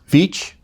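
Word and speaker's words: Veatch: Black and and um Beach I think that's how it's pronounced v-e-a-t-c-h involving work of any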